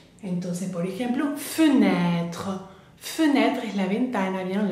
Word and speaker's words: fenêtre: sobre la E francesa, bien, se va a pronunciar E, como la primera que vimos, bien, E. Entonces, por ejemplo, fenêtre.